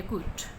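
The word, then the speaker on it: could: ये सेंटेंस पढ़ें, दे begin to harass me in every way they कुड। ठीक है, इसमें एल साइलेंट है, हम एल नहीं बोल रहे, हम कूड नहीं कहते, कुड कहते हैं।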